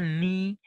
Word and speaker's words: knee: Like we have the word knee. Now, if you look at the word k sound, it disappeared.